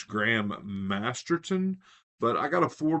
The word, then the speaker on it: Graham Masterton: always mispronounced his name I always put an S in there instead of the T I always called him Graham Masterson and it's Graham masterton but I got a